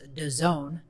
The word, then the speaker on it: DAZN: It's DAZN, but it's pronounced DAZN.